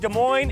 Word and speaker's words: Des Moines: Talk about this campaign, The S's Are Silent. People just say our name wrong sometimes.